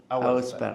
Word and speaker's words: Auersperg: Auersperg. Auersperg. Separando Auersperg. Ok. Bueno, buenos días a todos. Bueno, fue un placer que nos acompañes hoy. Quiero que cuentes quién es Auersperg.